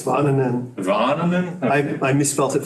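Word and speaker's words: Väänänen: And I can't even pronounce his name. So, do you have a? It's Varnanen.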